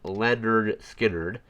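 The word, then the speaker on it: Lynyrd Skynyrd: Uh, next up was Leonard Skard and the album is Pu pronounced pronounced Leonard Skard.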